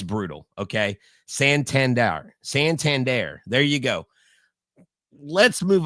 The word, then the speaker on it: Santander: Anthony Santander. I just said it. See, I didn't say R.